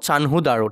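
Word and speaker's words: চানহুদারো: খানহুদ দারো চান দারো ঠিক আছে উচ্চারণটা হব চানহুদার ঠিক আছে হরপ্পা হইতার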